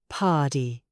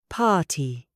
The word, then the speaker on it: party: Think of the word party, American, party, soft D, hard R, British, party. Notice two things here. The T is a true T, party, and the R in the middle is silent.